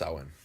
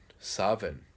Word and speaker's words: Samhain: the old Irish it wasn't pronounced Owen people argue about that too the closest I would say salad was pronounced with - Savin the whoa and soand would have been more of a sound Savin an old Irish really